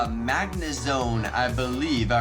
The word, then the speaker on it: Magnezone: gonna see a perfect magmar in this video Magnezone yes I did say it correctly and that's